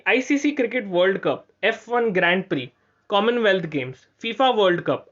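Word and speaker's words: Grand Prix: F1 ग्रैंड प्री, ग्रैंड प्री, प्रिक्स लिखा गया लेकिन इट्स प्रोनाउंस एज प्री.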